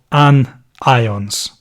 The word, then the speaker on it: anion: charged ions are called an ions negatively charged ions are called anions so I can I think that sounds like onions a little bit I mean have you